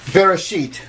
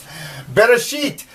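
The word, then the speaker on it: בראשית: So, now that you know how Hebrew works, let's look at this first word of Genesis 1:1, Bereshit.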